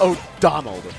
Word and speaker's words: O'Donnell: Wolf O'Donnell. Get out of here, Wolf. No, Donald, not Donald. So there we go. O'Donnell.